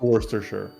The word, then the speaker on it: Worcestershire: spelled it it's spelled word worchestershire but it's pronounced worcestershire oh okay hi shadow hello hey jed what's